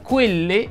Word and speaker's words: quelle: Nella parola quelle, la E, mi raccomando, va pronunciata chiusa, così come quello e dello.